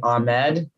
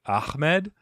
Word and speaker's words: Ahmed: And I've heard some folks pronounce it Ahmed. Is that the proper? Yeah, okay. Ahmed. Yeah, that is the right. Yeah, that is the proper way to say it.